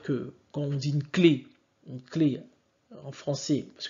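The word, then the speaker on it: clef: découvert que le fameux clé la clé là en tout cas le F à la fin n'est pas prononcé car en fait le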